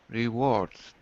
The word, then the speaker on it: rewards: the IPA symbols and you'll notice there's a z so say it one more time rewards Z rewards is oh it's difficult for